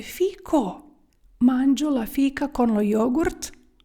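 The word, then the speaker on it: fico: не чоловічий тому що ви вимовляєте слово Фіка а потрібно говорити фіко манж жлафійка корло йогурт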